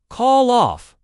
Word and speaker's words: call off: The stress is on off. Call off.